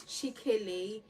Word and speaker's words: Chikele: a middle name and my middle name is chikele it's spelled c-h-i-k-e-l-e but on Instagram I use c-h-i-k-a-y-l-e